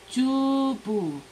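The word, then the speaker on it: 주부: qué quiere decir primero cómo se pronuncia se pronuncia una suave y chubut pero es una vez pero es una p suave o sea que yo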